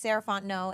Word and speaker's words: Sarah Fontenot: again my name is saranto and you can find me at M saraon no so Ms s a r a h fo o n t n o t the t is silent um that's me on